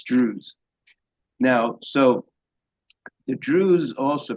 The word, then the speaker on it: Druze: Now, also for the mention to the audience, Drews is spelled D R U Z E. Drews. It may sound Jewish, but it's Drews.